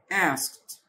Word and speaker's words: asked: asked طبعا حرف الاي سايلنت والتي والدي بتنطق ت. asked.